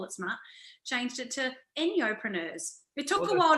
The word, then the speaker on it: Enjo: and so forth so a lot of people do call it njo because that's how you would spell it out e NJ o but it's actually pronounced noo because it's an product okay I'm an Aussie